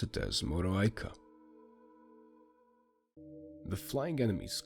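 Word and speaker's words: Moroaică: And at the end you pronounce it as Moreau Aika.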